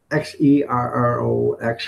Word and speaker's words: Xerox: And you would think Xerox would start with a Z, but no, it's Xerox or something like that.